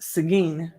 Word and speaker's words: Seguin: is pronounced here in Texas this town is pronounced Seguin so I'm calling a Seguin Texas Lee although I want to call it